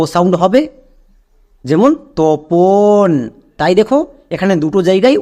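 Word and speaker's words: Tapan: টি এ পি এন তপন। এবার ইংরেজিতে এই নামটাকে তাপান উচ্চারণ করা হয়। তাই আমি একদম শুরুতে বললাম যে তপনও নাম। তাপানও নাম। তাপানটা হচ্ছে ইংরেজিতে উচ্চারণ।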